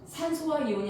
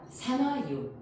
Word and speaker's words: 산화이온: 소로 끝나는 애들은 소를 지우고 화이온으로 붙여야 돼. 그러니까 뭐라고 읽어야 돼? 염화이온. 그치? 자, 우리 산소가요 나중에 이렇게 표기가 되거든요. 그럼 얘 뭐라고 읽어야 돼? 산소화이온이 아니라 산화이온. 무슨 이온?